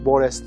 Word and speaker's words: Borges: Mesela Feridun Attar, Borges diye bir yazar var. Borges diye okunuyor. Bunun dedim ben hikayelerini okurken Feridun Attar'dan habersiz olması imkansız diyordum.